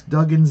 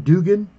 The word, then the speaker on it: Duggan: I also will try to pronounce Max Duggan's name correctly. I was calling him Dugan, but it is Duggan, I'm sorry.